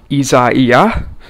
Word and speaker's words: Isaias: is a weird pronunciation for it but it's pronounced izaiah and before we get into this video i